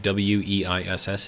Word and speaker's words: Weiss: So like W-E-I-S-S is pronounced Weiss, I believe, in German. So that's a W.